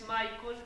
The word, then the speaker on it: Michels: Mi nombre es Michael, pero se escribe Michels.